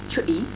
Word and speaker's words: chutti: Well, chutti is a Tynesiders word, therefore it's pronounced chutti, and it's a little